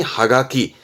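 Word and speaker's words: 葉書: 엽서 하지만 일본의 경우 는 이파리에 적었다 해서 발음이 하가키 하키가 돼요 그렇죠 자죠 낙서에요 라그가 라기 이거는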